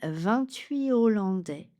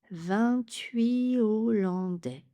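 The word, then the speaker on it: vingt-huit hollandais: Il s'agit donc d'un H inspiré ou H disjonf, pas de liaison. La délégation réunit 28 hollandais. 28 hollandais.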